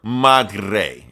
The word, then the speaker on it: Madre: You gotta roll the R, man. You gotta Madre.